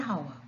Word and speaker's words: hour: with a and han when the h is silent we use an the second rule the